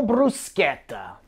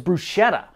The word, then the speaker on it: bruschetta: through Italy with traditional Bruce Guetta bruschetta fuchi I thought it was bruschetta well he's saying Italian the CH is pronounced as a hard K so if you want